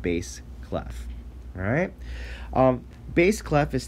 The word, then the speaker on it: bass clef: kind of like the fish bass but it's pronounced bass clef alright um bass clef is typically used for